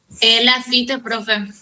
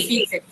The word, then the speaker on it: Lafite: Lafite, profe. T al final. Sí. Lafite.